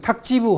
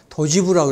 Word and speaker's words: 탁지부: 그래서 우리 탁지부 할 때는 살림을 헤아린다고 하는 거니까 반드시 탁지부라고 해야지 도지부라고 해서는 안 됩니다.